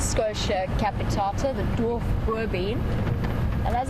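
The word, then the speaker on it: Schotia capitata: Yep, Raisa was the Scotia, well we pronounce it Scotia capitata, the dwarf boerbean.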